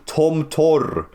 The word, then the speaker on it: Tomtor: Tomto. Tom. Because the P in Russian is pronounced R, by the way.